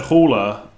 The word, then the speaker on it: Haller: You've got the pronunciation spot on. Oh, great. That's because I said Haller.